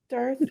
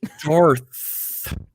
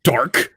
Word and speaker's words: Darth: not no no ed darth vader yeah he is and i also in case you were wondering am a slytherin so there you go i mean it's just darth not dark darth oh i didn't even